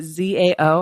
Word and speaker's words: Zao: spell or pronounce um z-a-o and I tell people Zao it rhymes with wow yeah um included here